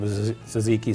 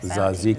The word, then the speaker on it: tzatziki: Of course, the mustards and tzatziki sauce for the gyros.